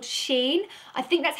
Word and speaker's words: Shein: So I have some pieces from a brand called Shein. I think that's how you pronounce it.